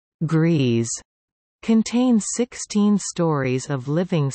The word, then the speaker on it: Gries: The Griesdijk complex, also known as Grise, pronounced Grease, contains 16 stories of